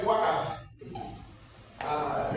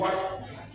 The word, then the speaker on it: waqf: Uh some people they call it waqf. Uh I don't want to say they are wrong, but that's the way they like to waqf. Uh But the correct pronunciation is waqf. But the Yorubas say they are waqfu.